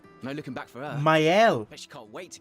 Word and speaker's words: Maëlle: Maëlle. Bet she can't wait to get out of here. That's how it's pronounced.